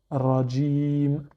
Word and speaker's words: رجيم: Et enfin, la lettre mim avec la voyelle I, sauf qu'on ne prononce pas la dernière voyelle d'un verset ou d'une phrase. Donc ça nous donne Rajim.